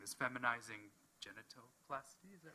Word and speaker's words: feminizing genitoplasty: was given, correct me if I'm wrong in pronouncing this, feminizing genitoplasty, is that right?